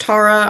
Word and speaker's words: Tara: once again by saying my name is pronounced Tara I'm not named after a plantation um I'm here to